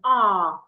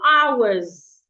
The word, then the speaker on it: hour: Please don't pronounce this word as R. Don't say it's 2 hours. It's 2 hours. The H should not be heard.